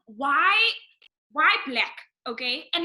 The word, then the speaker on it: 6LACK: And then it's spelled 6LACK. 6 Okay. lakh, but it's not 6 lakh, it's black.